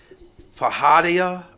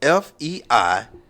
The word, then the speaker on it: Feijoada: Maybe you guys, I can't even pronounce it. Fajada. I'm going to spell it. It's Feijoada. Never heard of it. Feijoada.